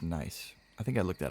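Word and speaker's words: gneiss: might support a castle I think that's pronounced nice I think I looked that up and it's pronounced nice on closer look they reminded him of a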